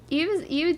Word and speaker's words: Yves: It's pronounced Eve.